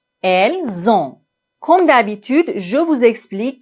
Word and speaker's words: elles ont: Ici, on doit faire la liaison entre le S et la première lettre du verbe qui est une voyelle. Nous avons, vous avez, ils ont, elles ont. Finalement, ne prononcez pas le N complètement. Nous avons, ils ont, elles ont. On ne doit pas dire nous avons, ils ont, elles ont. Non.